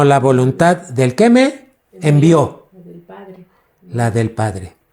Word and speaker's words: envió: su voluntad número tres aquí puse la palabra envío envió no es envío envió con acento en la o quién te puede enviar